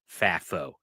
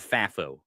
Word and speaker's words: FAFO: So can I go to one of your points there, because I it's not that I don't want FAFO.